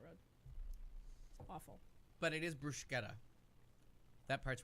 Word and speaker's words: bruschetta: in that sentence and that's why it's bruschetta because there's a C in there and you don't not pronounce anything and if it's CC